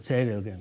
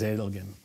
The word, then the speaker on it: Zedelgem: All the legionnaires called it Cedelgem because of the German pronunciation, but it is Zedelgem.